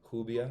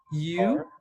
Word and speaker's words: Rubia: Hubia. R. Rubia. Oh, like I guess in English, like Rubia.